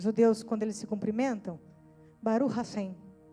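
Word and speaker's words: ברוך השם: Eles dizem assim: Baru rashem. Já ouviram os judeus quando eles se cumprimentam? Baru rassem é uma pronúncia meio diferente porque arrasta um pouquinho.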